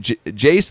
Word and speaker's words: Jace: First name rhymes with ace and last name, their first three letters has two capital letters.